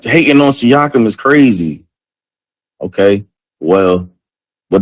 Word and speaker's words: Siakam: Hey, how did the yeah, see, Pat, I said he like hating on Siakam is crazy.